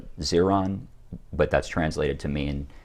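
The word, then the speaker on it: 自然: is called um again not the totally correct tonal pronunciation but their term for nature is uh zeron but that's translated to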